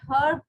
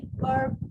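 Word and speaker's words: herb: भी हो सकता है यूके में हर्ब प्रोनाउंस होता है यूएस लैंग्वेज में अर्ब प्रोनाउंस होता है इफ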